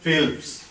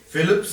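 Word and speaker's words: Phelps: America का एक swimmer हुआ है माइकल फेल्प्स, प्रोनाउंसिएशन अगर गलत हो तो मुझे माफ करना, फिलिप्स नहीं है उसका नाम, फेल्प्स है, माइकल फेल्प्स।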